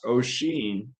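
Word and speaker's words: Oisín: Uh, it's also an Irish name and it's pronounced osheen although it's spelled like o and and that's a that's a running gag through the entire book.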